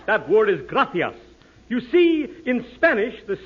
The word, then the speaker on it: gracias: okay muchas gracious Amigo no no no not gracious that word is gracias you see in Spanish the sea is pronounced th Gracia you see th you see